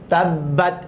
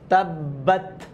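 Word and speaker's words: تَبَّتْ: তাব্বাত, এই দেখেন তাবা জবর তাব, বা জবর বা, তাব্বা, এটা কিন্তু তাসদিদের উচ্চারণ। তাব্বাত, এই যে বাতা জবর বাত, জজমের উচ্চারণ আমরা কিন্তু পড়েছি, বাতা জবর বাত, তাব্বাত।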